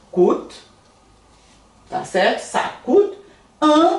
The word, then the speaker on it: coûte: Ça coûte, com o de urubu aqui, né? Então é coûte.